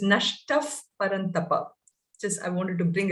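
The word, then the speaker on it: नष्टः परन्तप: dots whenever you have the power following a visarga you use the fur sound so it is nashtaf paranthapa just i wanted to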